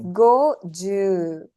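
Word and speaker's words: 五十: Okay, there's a slight, if you look at Goju, it's Goju. Go has no elongation, Ju has. So that has to be evident in the way you pronounce it. Goju. Not Goju, right? Goju. Slight elongation in Ju.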